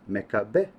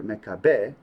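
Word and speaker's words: מכבי: It's pronounced as Mekabeh. And one of the best known explanations is that Maccabee or Mekabeh is an acronym.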